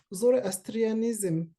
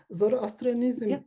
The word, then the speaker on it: Zoroastrianism: Yeah, the Zoroastrianism. It is true pronouncing. Zoroastrianism is can we think this thought as lines of escape in Iran?